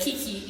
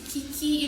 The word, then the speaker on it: Kiki: see it, they're like Kiki. And I'm like, "No, it's not Kiki. It's Kiki in French because it's my little brother gave me the name.